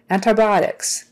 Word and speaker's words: antibiotics: one in another video antibiotics antibiotics that's a long one the stress is actually near the end antibiotics the second to the last antibiotics because it has